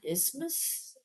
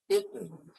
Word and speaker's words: isthmus: Uh isthmus isthmus isthmus Oh, so you don't say the th at all.